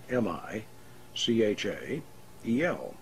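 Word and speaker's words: Michael: the angel of power was separated into three syllables mi CH a yell and written in the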